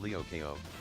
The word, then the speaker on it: Lyoko: Winx Club was a show about fairy girls, and Code Lyoko, pronounced Lyokeo, was an oddly messed up kids cartoon.